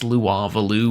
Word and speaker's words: Louisville: want to go to Louisville or yes laralou whatever um still can't believe that's how it's supposed to be pronounced but anyways I kind